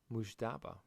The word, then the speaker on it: Mujtaba: Mujtaba.